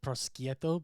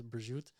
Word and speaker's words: prosciutto: Some people say prosciutto, but in Italian it's prosciutto.